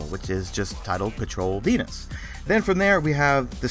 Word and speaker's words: Venus: And now, let us transition to Venus, a word that rhymes with keenness.